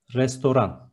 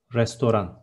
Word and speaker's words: restoran: Next one, restaurant is restoran. There is no T in the end, restoran.